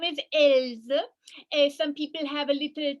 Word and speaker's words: Else: Yeah, so my name is Else. Some people have a little trouble with my name, so I spell it for you. E-L-S-E, like else. I think you see, I am just like everybody else.